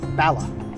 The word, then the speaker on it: Bala: Okay, Bala. Bala, pretty much the same.